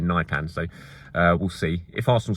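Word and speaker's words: Nypan: I heard, and I did check it out, and I listened to a Norwegian saying it as Nipan, but I know a lot of people have been saying Nipan, so we'll see.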